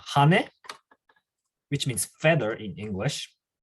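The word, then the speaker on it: は: Today you just use watashi and then wa. By the way, so some people might get confused, but this one is actually pronounced ha, H-A. But in this case, you have to say W-A, wa.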